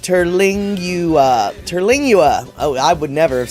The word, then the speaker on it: Terlingua: By the way, it's pronounced Terlingua. Terlingua.